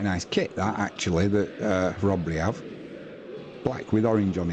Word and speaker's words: Chrobry: Or in the UK you would say Chrobry. I can assure you it's not in Polish, it is Chrobry.